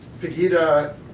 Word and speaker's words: Pegida: Pegida? Pegida is in Dresden.